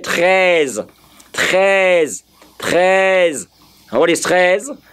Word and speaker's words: treize: Now, from my pronunciation there, for the Frenchman's pronunciation, I am hearing T R Z. And if I do T R Z, in my mind, I will have treize. Treize. T R E Z is what I'm hearing.